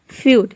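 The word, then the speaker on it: feud: पे 12 हो जाएगा यदि किसी वर्ड में इ यू एक साथ हो तो इ य को हम यू प्रोनाउंस करेंगे जैसे कि देखिए यहां पे है फ्यूड फ्यूड मतलब होता है झगड़ा एफ का हो जाएगा फ और ई यू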